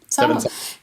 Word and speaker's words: Sawa: Sawa.